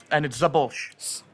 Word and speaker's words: Szabolcs: And it's Szabolcs. Almost Szabolcs, Szabolcs. You're pronouncing the back part, the end of it. Great. You always mess up the S at the beginning. That's the easiest part.